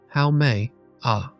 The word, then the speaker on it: Haumea: Pronouncing it correctly as how may a takes some practice for English speakers unfamiliar with Hawaiian pronunciation. But learning to say how may properly is a small gesture of respect for